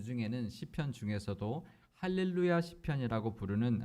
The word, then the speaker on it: 할렐루야: 아 그리고 발음도 요 할렐루야 이렇게 만들고요 1를 루이 얘길 우자 의 엑센트를 더 서 할렐루야 이렇게 발음을 해야 되는데 우리 옆 사람과 많이 살 보실까요 할렐루야 할렐루야 4 할렐루야 아니고 할렐루야 이렇게 인사를